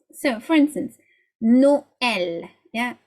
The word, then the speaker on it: Noël: So for instance, Noël, yeah, Noël, 2 syllables.